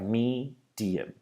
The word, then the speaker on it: medium: We have the stress on the first vowel. The other vowels then change to an I or an So we have medium, medium.